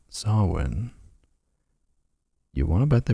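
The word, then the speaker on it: Samhain: there's a sign in the preview image saying sawin you want to bet they pronounce it as Sam Hayne you're Googling it oh it's a slasher movie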